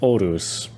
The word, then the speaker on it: Horus: It says here brackets pronounced Orus with the complete death of ourselves.